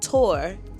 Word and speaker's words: Thor: This is Thor, pronounced tour, in Denmark.